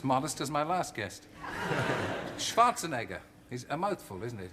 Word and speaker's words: Schwarzenegger: change my name because people started saying schwarzen schnitzel and schwarzenheimer nobody could pronounce it so they said just call it Schwartz so call it call it something different but not Schwarzenegger but I I felt